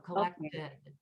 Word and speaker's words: collected: And so a verb that ends in a T, we have to add a new syllable to put it in past tense. So collected.